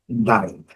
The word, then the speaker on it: indict: Não tem muito comentário a fazer, é só mesmo tirar o C. Indict.